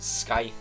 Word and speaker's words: scythe: grip on his old scythe there. Yes, I know it's pronounced scythe, but again, I'm saying it wrong in hopes that I piss someone off in the comments.